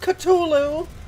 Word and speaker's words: Cthulhu: isn't true I just think that's funny it's pronounced culu oh there that that thing that was it